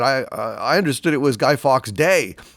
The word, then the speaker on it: Guy Fawkes: doc yes yes indeed a G Fox night or Guy Fawkes night is actually yes the proper way to pronounce it some guy told me it was geef ox years ago but that would have been if he was French and he was not French therefore it's Guy Fawkes and I hesitated when